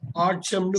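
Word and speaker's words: autumn: இது வந்து ஒரு சீசன் ஆற்றம்னு படிக்கணும் என்ன விட்டுரணும் இது வந்து ஒரு சீசன்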